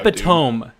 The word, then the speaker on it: epitome: Epitome. I googled it. Yeah, that's pronounced epitome.